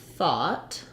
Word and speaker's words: thought: different common words so o-u-g-h can say ah like in thought that's what i thought and that's vowel ah the symbol for it in the ipa and in the dictionary it looks like that so i think of ah i often think of it as aw and that's how i spell it because it's in words like saw and law we spell all lots